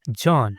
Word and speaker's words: Can: So they write it as C A N but they pronounce it as J A N John.